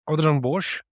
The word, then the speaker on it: Adrian Bosch: Adrian will tell you how to really say his name. Welcome, Adrian. Thank you, Yolanda. I can throw a Afrikaans accent. So, Adrian Bosch, that's how you properly say it.